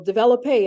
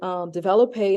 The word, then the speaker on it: développé: sometimes is you know, développé, and depending on where you grew up or what studio you went to, some people say développé and some people say développé. So there are two different pronunciations depending on where you went